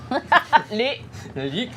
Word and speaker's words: Luc: Luc, not Luke.